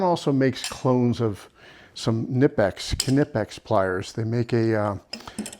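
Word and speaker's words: Knipex: So, when you're talking, I don't know, maybe a 15 10 15 bucks difference to get the Nipex Canipix is actually probably the right way to pronounce it uh versus the Icon version of either the Twin Grip or the Raptors.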